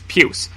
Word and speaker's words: puce: historically given me difficulty is puce because it's one letter away from puke similar to pus and shares a primary vowel sound with mucus I used to think